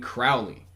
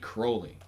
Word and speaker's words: Crowley: You know, few figures have enjoyed a controversy as sustained as Alistair Crowley, and I must stress Crowley as my next guest was forced to correct my error in saying Crowley.